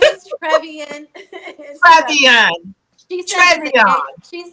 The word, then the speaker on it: Trevian: giving our closing so L been saying my name wrong forever okay my name is Tran she she says it the gay way like